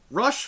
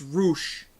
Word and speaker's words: Rush: to the next match rush versus Dalton castle ruch it's Roush oh my god if